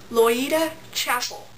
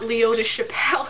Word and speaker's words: Loida Chapel: It's pronounced Loida Chapel, right? Loida Chapel, not Leota Chappelle as I was saying it.